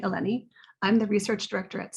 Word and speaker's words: Eleni: be here hi i'm eleni uh rhymes with jenny eleni i'm the research director